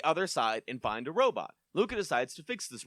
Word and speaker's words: Robo: Uh, we get to the other side and find a robot. Luca decides to fix this robot. The robot is called Robo. Rhymes with Tobo.